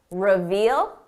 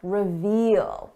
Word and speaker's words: reveal: We're talking about revel, revel, reveal, revel. Notice the difference in the vowel sound. This is a short sound, revel. Long sound, reveal.